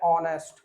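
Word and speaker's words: honest: क्योंकि हम इसको पढ़ते क्या है? ऑनेस्ट। आ बना देते हैं। तो आ जाता है तो फिर एन का यूज़ हो जाएगा। ठीक है? क्योंकि एच साइलेंट होता है।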